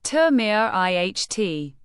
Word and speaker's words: temerity: Temerity. Pronounce it as Temerity. The stress is on the second syllable, mer.